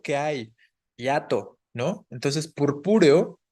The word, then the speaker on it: purpúreo: Entonces, purpúreo es una palabra esdrújula y debería llevar tilde en la segunda U, purpúreo, ¿no?